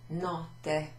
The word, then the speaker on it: notte: Ci sono due T, there's two T's in it. And with, like lots of words in Italian, if there's two consonants, you sort of pronounce it almost twice. So, notte.